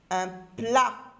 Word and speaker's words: plat: Un plat. Un plat. Lettre T, lettre muette.